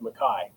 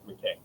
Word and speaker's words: McKay: and family is that in the Highlands, it's pronounced Mai. Uh, a lot of people get it wrong with McKay.